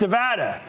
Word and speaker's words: Nevada: I'm joined right now by Democratic Congresswoman Dina Titus from Nevada, pronounced Nevada, and former Republican Congressman Carlos Cabello.